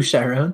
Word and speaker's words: Chiron: i hated his name who charon yes because it's spelled like chiron who is the fairy men of the dead in greek mythology um but yeah yeah